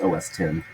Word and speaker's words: OS X: Well, OS X pronounced OS 10.